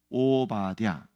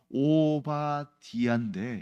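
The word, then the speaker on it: 오바댜: 하나입니다 왜냐면 그렇게 뭐 한 글자 한 글자 보면 어렵지는 않은데 이걸 붙여서 읽으면 대부분 오라고 해요 그런데 오바디 그래서이 발음은 사실은 어떻게 된 거냐면 오바디아 이걸 이제 짧게 축약해서 오바디아 이렇게 기록이 된 겁입니다 자 오바는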